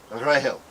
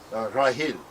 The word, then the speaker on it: Rachel: The original pronunciation of Rachel in all the Semitic languages sounds almost identical to Grail, Rahel, Rahil.